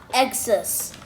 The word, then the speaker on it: Xcess: oh yes it is it's called the x-shot xs it's got a really